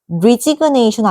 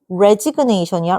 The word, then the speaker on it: resignation: resign 리로 발음은 resign 이렇게 발음해야 되고 resign 근데 요거의 명사형은 resignation 아니다. 요건 또 resignation이야. resignation 이렇게 해줘야 돼요.